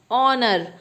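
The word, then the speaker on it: honour: अब ऑनर, ऑनर में S silent होता है और इसे हम हमेशा ऑनर पढ़ते हैं, ऑनर, ONOUR, ऑनर।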